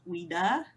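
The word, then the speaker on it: Ouida: popular women's right activist Wida that's how you say her name o-u-i-d-a whom Peters was known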